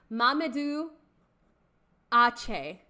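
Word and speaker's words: Mamoudou Athie: So his name is pronounced Mamadou Ache.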